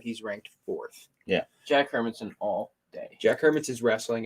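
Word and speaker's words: Hermansson: talking about a little bit we got jack harbinson versus marvin i'm gonna make sure i'm pronouncing this guy's name right it's jack hermansen versus marvin vittori marvin vittori 15 and four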